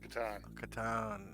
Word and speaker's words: Ka'ton: quarter to seven gotcha uh so do you pronounce that katan yes katan okay and uh very first thing we're gonna